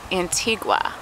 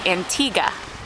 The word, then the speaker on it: Antigua: valley church beach in antigua or the proper way to say it is antigua on a cloudy day